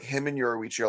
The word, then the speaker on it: Yoruichi: like him and Yoruichi are like hiding in like a cave or